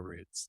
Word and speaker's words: routes: also be attentive to routes or Roots depending on how you pronounce it R o u t s so understand the movement